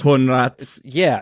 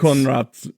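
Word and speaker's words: Coenraets: Oh, Jimmy Conrads? Yeah, but it's pronounced. The last name is Conrads. it's like sounds like cone rats. Conrads.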